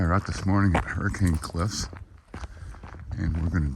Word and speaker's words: Hurricane: We're at Hurricane Cliffs just outside of Hurricane or as the locals pronounce it, Hurricane.